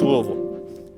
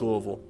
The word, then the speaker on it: Louisville: at least to me it's pronounced louisville and anybody in uh in that area will call it louisville don't know what louisville i don't know who does that but it's louisville all right here's two